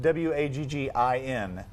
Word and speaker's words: Waggin: have a Facebook page, Waggin Wheelers, here in Colorado Springs, and it's spelled W-A-G-G-I-N. Waggin, like a dog's tail.